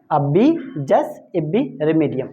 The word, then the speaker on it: ubi jus ibi remedium: अब्बी जस इब्बी रेमेडियम, इसकी प्रोनाउंसिएशन आप एक बार और ध्यान से देख लें।